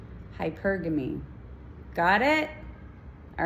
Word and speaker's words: hypergamy: so yeah that's all it's hypergamy not hypergamy hypergamy got it all right